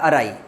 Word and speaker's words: awry: AW को AH पढ़ते हैं, RY को RAI पढ़ते हैं, अराई।